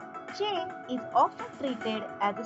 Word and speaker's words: che: Now let's take a closer look at CH, which is pronounced as che, che. Although traditionally considered a combination of C and H, che is often treated as a separate letter in Spanish.